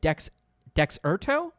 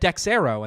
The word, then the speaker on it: Dexerto: There is an update to this posted by, how do you pronounce this, by the way? Dexerto? I always said Dexero, and that's not right.